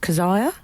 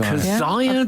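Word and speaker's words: Kezia: the in the jungle is it Kia dogale or kzia I think the producer is pronounced kazia Kaz kazia dogale it might be a Hebrew name I'm not sure that's a good I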